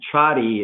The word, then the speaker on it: Csathy: funny but it's it although my last name is cha D it's it's spelled like Casati so it's C